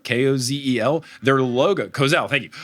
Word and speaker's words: Kozel: words in front of me but I will butcher the name the brand of the beer is Kozel k-o-z-e-l their logo Kozel thank you their logo is